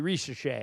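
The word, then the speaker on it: Risacher: But uh I never knew that's how you pronounced that one guy's name. Ris I always call him Rischer.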